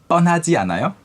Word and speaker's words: 뻔하지 않아요: it's 뻔하지 않아요? 뻔하지 않아요? You have to pronounce it really well. 뻔. 뻔. 뻔. So it's a 뻔하다. double B. Double 비읍. 비읍.